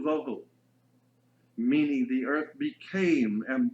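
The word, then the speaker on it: בֹּהוּ: Vohu would be V-O-E-W-H-O, tohu, vohu, waste, desolation.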